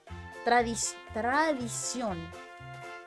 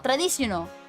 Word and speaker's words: tradición: Did I pronounce that right? Hold. Tradición. Mariachi, if you will. Is that really how you say it? I feel like I'm pronouncing it wrong. Tradición. No, tradiciono.